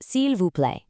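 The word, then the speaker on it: s'il vous plaît: It means slowly and you finish it off with the ever polite cule pronounced silv.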